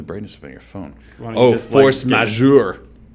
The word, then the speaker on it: force majeure: upon your phone Oh force majeure a French pronunciation meaning superior force also known